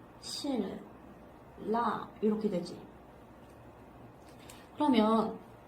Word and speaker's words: 신라: 그럼 우리 역행적인 유음화 한번 보면은 신라 이거 한번 볼까? 이거 어떻게 발음돼요? 실라 이렇게 되지. 그러면 뒤에 있는 이 리을이 앞에 있는 니은에 영향을 줘가지고 이 니은이 어떻게 됐어요? 리을로 됐어요.